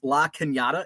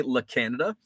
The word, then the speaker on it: La Cañada: And the reason I can pronounce La Cañada and I don't say La Canada is because that's where